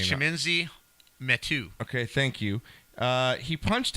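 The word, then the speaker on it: Chimezie Metu: Chiminzi Metu.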